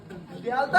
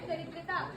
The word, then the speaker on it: दरिद्रता: अरे क्या ये दयालुता है क्या ये? इस शब्द का उच्चारण है दरिद्रता। दयालुता तो कुछ और ही बन जाता है।